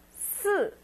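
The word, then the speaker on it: 四: three is S four S fourth accent so make it sharp four s and five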